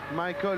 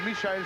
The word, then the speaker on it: Michael: Michael ou Michael Schumacher, selon qu'on le prononce à l'anglaise ou à l'allemande.